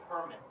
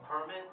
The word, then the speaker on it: permit: if i did but this word has two pronunciations one is permit and one is permit so permanent oh okay so